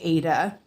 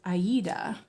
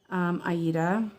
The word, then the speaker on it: Aida: I know we always say Ada, but I recently found out that this fabric is named after the opera, and I think it's pronounced Aida.